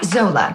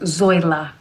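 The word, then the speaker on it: Zoila: about you too well isn't that sweet now Zola actually it's pronounced zoa okay okay all of this no chatter should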